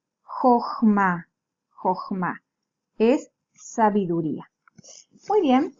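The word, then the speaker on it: חָכְמָה: Kamatz katán porque está sonando como una O. Es una O breve. El kamatz katán habíamos estudiado que es una O breve. Y está en una sílaba cerrada, no acentuada.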